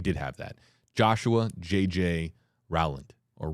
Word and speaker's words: Rowland: apologies no we did have that Joshua JJ Rowland or Roland it's Rowland pronounced r-o-w-l-a-n-d so apologies a little behind on that